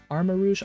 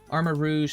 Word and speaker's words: Armarouge: Armarouge? I'm going to pronounce it Armarouge.